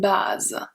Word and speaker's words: bas: Let's see bas first. So we have bas. For masculine singular, we don't pronounce the S.